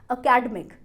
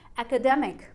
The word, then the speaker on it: academic: अब इस वर्ड को बहुत सारे लोग गलत प्रोनाउंस करते हैं एज अकेडमिक, अकेडमिक, पर इस वर्ड की सही प्रोनाउंसिएशन है एकेडमिक, एकेडमिक।